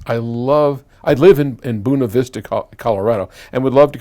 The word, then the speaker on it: Buena Vista: Colorado now I know that the people in Buena Vista which is how I would think anybody from California would say it calls it buna vista and they're quite proud of that spelling or